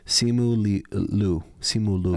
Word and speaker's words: Simu Liu: Simu Liu.